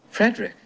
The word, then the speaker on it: Frederick: No, it's pronounced Frankenstein. Do you also say Frederick? No, Frederick.